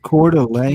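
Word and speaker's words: Coeur d'Alene: And then there's the city of Delane where about 57,000 people live. Then Canfield Mountain is next to it. And this is it was a popular hiking. I pronounce it Cordelane.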